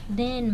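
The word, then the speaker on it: though: है कि यद्यपि और दो में देखिए जीएच लास्ट में हो तो उसको सब वो साइलेंट रहता है उसको बोलते हैं दो दे मतलब वे नियर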